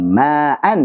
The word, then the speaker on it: ma'an: pada hamzah sama misalkan ma'an misalkan, itu tidak ada alifnya secara rasm otomatis. Ma'an itu bacanya ma'a. Mad iwad, dua harokat dia. Hanya saja tidak ada otomatis ada alifnya, tidak ada.